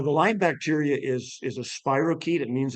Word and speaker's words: spirochete: But anyway, he's an Aussie guy, and he mispronounced spirochete, and he says, "It's a spirochete, mate."